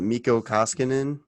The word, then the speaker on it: Mikko Koskinen: Was it Mikko Koskinen?